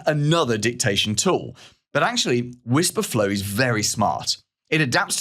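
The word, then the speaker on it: Wispr Flow: It's called Whisper Flow and it's spelled W I PR Flow. Whisper Flow if you like.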